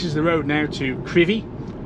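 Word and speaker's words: Crovie: the road now to crivi it's spelled c-r-o-v-i-e but pronounced curvy near Gardens town on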